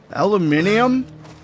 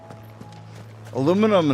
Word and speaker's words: aluminium: that why your stor aluminium no aluminum and aluminium are spelled the same way it's just pronounced different are you guys spelling